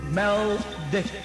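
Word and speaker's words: Maldek: And the sea people are the Dragons, the Vulcans, and their other the name of their planet, right, was Meldick, which is spelled M-A-L-D-E-K.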